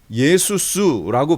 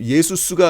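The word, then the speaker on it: ישוע: 이 메시아닉 주들은 예수스라고 발음을 하고요. 메시아닉 주가 아닌 유대인들 있죠. 여전히 유대교에 포함되어 있는 유대교적 사고를 하고 있는 그 사람들은요, 예수스라는 발음이, 예수스가 의미하는 게 뭔지를 알아요.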